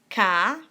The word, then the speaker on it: Kniest: Se escreve K-N-I-E-S-T.